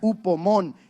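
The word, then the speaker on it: ὑπομονή: La palabra griega para paciencia en realidad significa, se pronuncia upomón, que significa resistencia firme.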